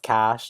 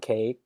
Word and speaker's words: cache: getting you know i learned that cash is pronounced cash not cake among many things but that bill um you